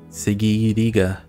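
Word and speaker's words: Següiriya: In my language, at least, that those two dots above the U, it means that the pronunciation should be gi, segi, segi, segiriga.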